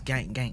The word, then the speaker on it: GankGaank: It's GankGaank, like GankGaank. I know, but I was trying.